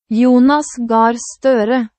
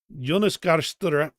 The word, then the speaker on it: Jonas Gahr Støre: Get that on and Jonas Gahr Støre. Jonas Gahr Støre.